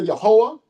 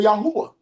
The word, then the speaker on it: Yahweh: I know this would be used as a as a U vow or O vow. I can say Yahweh. I can say Yahwa. Right? That's where people getting all these different pronunciations from.